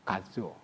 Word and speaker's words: 가츠오: 일본에서 호적을 했기 때문에 제 이름은 화남이긴 하지만 일본 발음으로는 가츠오입니다. 가츠오.